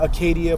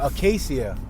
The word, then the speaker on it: Acacia: That's the Acadia Park on our right-hand side. Or Acacia. I've done said that park's name wrong so many times.